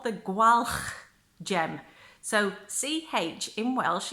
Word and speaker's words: Gwalch: So it's gwalch. So gwalch gem. But I mean, if you struggle, just say gwalch, which is what most English people do when they try and pronounce that name.